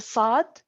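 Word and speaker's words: ص: produce or pronounce the sod uh it's as if you are pronouncing a scene but push the air up so nothing is so only push the the tongue up is so the the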